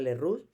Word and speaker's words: Lerroux: búnker y alejandro lerroux porque es verdad que el apellido dirección francés pero él era español y se pronunciaba le root es un tremendamente demagógico